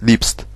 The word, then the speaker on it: liebst: Sauf qu'en allemand, on le prononce liebst.